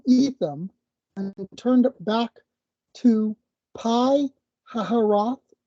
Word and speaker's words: Pi Hahiroth: And they set out from Etham and turned back to Pi Hahiroth, could also be pronounced Phi Hahiroth, which is east of Baal Zephon.